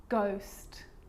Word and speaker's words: ghost: or rare occasions it's not pronounced the H is silent so it's choir choir echo echo with a g-ghost ghost and with an R rhythm or rhyme good